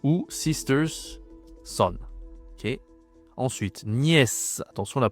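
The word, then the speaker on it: nièce: Ensuite niè attention la prononciation ici. Ici on dit le neveux hein. Neu le neveux c'est masculin d'ailleurs. Masculin. Ici la niè attention c'est pas Nice c'est niè.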